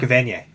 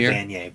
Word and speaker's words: Evanier: Oh, Mark Evanier. Or sorry, Evanier or something. I always say Evanier, but yeah, I think it's Evanier or something, or Evanier. He pronounces it in the non-French way.